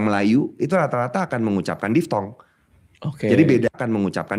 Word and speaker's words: diftong: Bukan itu diftalk. Makasih. Thank you, makasih. Apa nih diftalknya apa nih? Dua vokal yang apa nih diftalknya apa nih? Dua vokal yang diucapkan barengan. Ai, au, pantai. Itu namanya diftong.